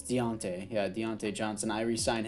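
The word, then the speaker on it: Diontae: they definitely want to resign him as he comes back deontay johnson uh yeah did i pronounce that right is it dante no it's deontay yeah deontay johnson i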